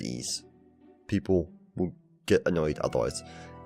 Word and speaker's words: Ys: But anyway, yes, pointed out, it is spelled YS, but it just said Ease.